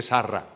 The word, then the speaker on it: Sarra: No tenía, vivió más años que Sarra, que es como se decía Sara, la mujer de Abraham.